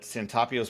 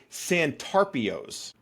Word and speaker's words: Santarpio's: I was in my 30s when I found out that Santapio's pizza has an R in it. The name of the place is Santarpio's.